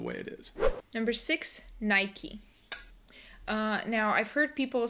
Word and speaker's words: Nike: what it looks like it looks like but it's not uh it's actually Nike uh from the old Greek goddess actually Nike and because it's an American company I guess this is the correct pronunciation looks like Nike but we say Nike number seven Adidas uh